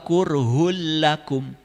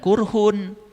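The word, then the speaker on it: كُرْهٌ لَّكُمْ: Wahuwa kurhul lakum. Ehm. Awas, jangan kurhun. Karena apa? Domah dua menghadapi lam. Itu idgham bilaghunnah. Ehm. Kurhul lakum.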